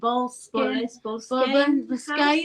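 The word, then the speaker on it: Boleskine: And he's got a house, hasn't he, in Loch Ness called the, how do you pronounce that, Rosie? Bolskine house.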